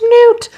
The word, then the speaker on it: Nut: I don't care if people are like, her name's Newt. I want to call her Nut, so I'm going to call her Nut. And it's spelled like nut, and I am an American. So I'm going to pronounce it as an American does.